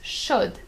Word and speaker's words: chaude: or a hot cup, you're gonna add an E at the end of chaud, and you're gonna pronounce chaude instead of chaud, obviously.